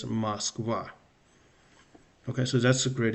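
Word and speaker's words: Москва: And perhaps another example, the capital of Russia, Moscow, is Moskva. So because of the last letter ah is stressed, it's not Moskva, it's Moskva. So I is the first O is unstressed, it's Moskva.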